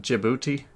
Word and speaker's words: Djibouti: Okay, so it's pronounced Djibouti.